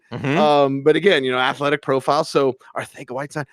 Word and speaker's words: Arcega: It's Catalan. It's from Barcelona. Yes, the C is a TH. Okay. Okay. Arcega Whiteside.